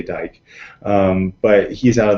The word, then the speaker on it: Dyck: to look at is dr dick or dyck is how it's spelled you say dyke um but he's out